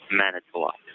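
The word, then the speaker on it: Manitowoc: murdered is Teresa halbach halbach halbach and it's manok man toak manok okay thank you very much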